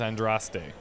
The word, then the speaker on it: Andraste: Harold, go at time, praise Andraste. Well, they said Andrast, just like how I used to pronounce it.